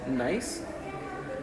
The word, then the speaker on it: gneiss: So this it's pronounced gneiss.